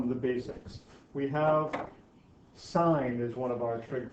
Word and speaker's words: sine: Even though it's spelled sin, it's pronounced sine.